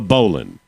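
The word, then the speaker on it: bowline: Uh, this this knot is called the bolan. All right. Oh, but it's spelled boline, but it's pronounced boline.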